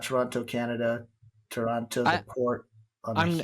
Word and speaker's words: Taranto: Yeah, I'm curious how that's actually pronounced. So Toronto. Taran- Taranto. Everybody I, said Toronto, even the excursion folks, and they would also make the comment, not the Canadian city. So so it's basically, pronounced Toronto is like the pronounced the same. same. Yeah, I could be wrong, but everybody said it like So Toronto.